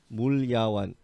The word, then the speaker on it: Mulyawan: in different syllables, like MU is like mu, and then LYA is like Lia, and one. Or you can go like Mul, MUL, Ya, YA, and then one. Mulyawan.